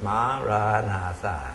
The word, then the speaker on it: Maranatha: And we use 4 syllables. Maranatha. And from room 1 up to the top, they all know the Maranatha.